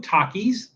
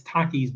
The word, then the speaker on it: Takis: and people say like is it Takis is it takus is is it you know how do you pronounce that I'm thinking it's Takis because it's like takitos they're like taquitos but they're little they're miniature takitos so that's why I think it's Takis and this is Bucking